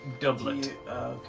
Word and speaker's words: doublet: Basically, doublet. Double with T on the end.